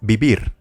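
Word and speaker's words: vivir: the next verb is bibir remember this V letter is pronounced as B ibir how do you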